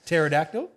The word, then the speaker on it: pterodactyl: P silent letters tripping up phonetics. Pterodactyl.